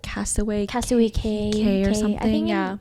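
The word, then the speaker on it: Cay: Is it called what was it like Castaway K or something. The people in the Bahamas call it K, but it's spelled like key.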